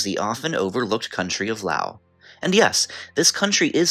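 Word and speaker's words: Laos: often overlooked country of Lao and yes this country is spelled l a oos but the S is silent for anyone curious about the correct pronunciation but interesting facts aside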